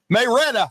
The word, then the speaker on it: Marietta: Marietta or is it Marietta? Maretta. Is that the real pronunciation of it if you hang around there long enough?